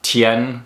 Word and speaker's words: Tien: with an E there there's other systems that spell this sound with an E uh for instance if you look up the character uh Tien from Dragon Ball and Dragon Ball Z if you watch that show on his Wikipedia page you'll see it written as t i n but this is the same t a an that's written in pinion he's actually based off